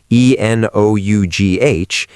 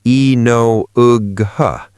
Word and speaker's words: enough: If you read the word enough, e n o u g h, and you try to pronounce it based on the spelling, you might say e no ug huh. But the sound is enough.